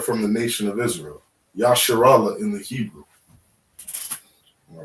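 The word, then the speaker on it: ישראל: Yasharallah in the Hebrew.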